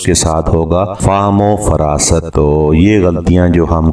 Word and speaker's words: فہم و فراست: ساتھ ہم ایک اور لفظ ہے فہم و فراست، جبکہ یہ لفظ درست تلفظ کے ساتھ ہوگا فہم و فراست۔ تو یہ غلطیاں جو